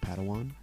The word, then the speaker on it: padawan: a pad one to this bold jedi that's pronounced padawan oh padawan excuse me hey it's getting late i think